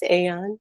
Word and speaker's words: Aeon: Aeon, how do you say that? Yes, Aeon.